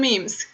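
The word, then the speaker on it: memy: So let me just say that memes are pronounced meme in Polish, in the plural form, and then it's mem when it's a single meme.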